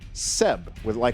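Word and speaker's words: CEB: He was the inspiration for the name of this team, and the name is pronounced like Seb, with an S, but in this case with a C.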